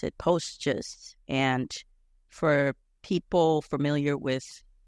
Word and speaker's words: PostGIS: There's the way that I normally pronounce it, PostGIS, and for people familiar with geographic information systems, they might call it PostGIS.